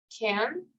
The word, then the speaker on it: can: Es con A, ¿ok? Un poco a la A y a la E, como can, right?